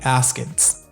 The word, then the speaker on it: askance: Like Carol Baskins? Kinda. You spell it A-S-K-A-N-C-E. Askins.